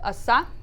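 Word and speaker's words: оса: Similar concept, asa.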